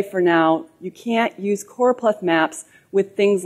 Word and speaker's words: choropleth: oh and Plath and you'll often hear it mispronounced chloro it's not chloro it's coral which means